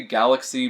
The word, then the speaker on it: Galak-Z: I've heard it pronounced Galak-Z and Galaxy, but I say Galaxy because Galak-Z is just stupid.